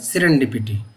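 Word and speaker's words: serendipity: इसकी सही प्रोनाउंसिएशन है सिरेंडिपिटी।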